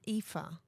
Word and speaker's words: ephah: She gathers, from what I've read in my little Bible notes of what I'm trying to see it's an ephah. An ephah. An ephah.